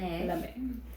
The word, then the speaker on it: lame: so a bread lame it's a French term l m e with little um sounds lame MX lame in French it's lame lame my family's actually French